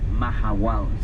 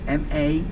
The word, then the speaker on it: Mahahual: The name of this town is Mahahual. Something that, a word that you may have never heard before. Let me spell it for you. M-A-H-A-H-U-A-L.